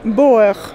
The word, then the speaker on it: Beauer: Das Ganze heißt Boer. Das wird ungefähr wie ausgesprochen? Boer. Boer. Boer. En fait, Boer, c'est mon nom.